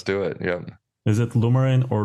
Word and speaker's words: Lumerin: Is it Lumerin or Lumerin? So I say Lumerin. Some people say Lumerin and stress the E.